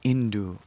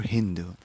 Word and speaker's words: Sindhu: One river is known as the Sindhu River. In different dialects, it's pronounced differently, like Indu or Hindu.